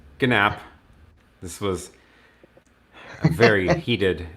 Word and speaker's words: GNAP: pronouncing it right gnap is it nap or gnap yeah it's gnapp this was a very